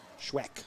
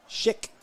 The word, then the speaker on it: Schick: Actually, it's Mason Schick, like the razor. Doesn't look like that, but that's what it is. That's what his parents said.